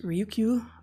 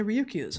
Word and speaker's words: Ryukyu: These are found off of the, I think it's pronounced Ryukyu Islands in Japan, between just north of Taiwan. And the Ryukyu Islands, incidentally, which has